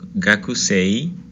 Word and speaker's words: gakusei: Gakusei la termina con una i, o sea, sería gakusei, ¿ok? Pero no vamos a pronunciar esa i, sino que se va a alargar. Entonces sería doble e, gakusei.